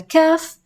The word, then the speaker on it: ك: Let's work on the kaf. Kaf is very similar to the pronunciation of the C in the word cat, for example, or even the K in kale.